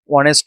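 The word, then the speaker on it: honest: word আছে জাগায় কিছু কিছু যেমন হি ইজ অনেস্ট ম্যান এইযে ওয়ার্ড এটা প্রথমে আছে থাকলে উজ্য উচ্চারণ কিন্তু হতেছে অনেস্ট অনেস্ট না উচ্চারণ অনেস্ট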